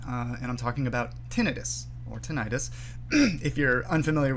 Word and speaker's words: tinnitus: for being sticklers uh the tinnitus is probably the more linguistically justified pronunciation uh but don't worry about it everybody's familiar with with the condition everybody who's familiar with the condition would know exactly what you mean if you use either pronunciation um the word itself